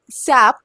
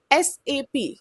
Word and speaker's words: SAP: It's not called SAP. You have heard so many people calling it SAP, right? But it's totally wrong. It's not called SAP. It's called SAP and that's how the German company pronounces it.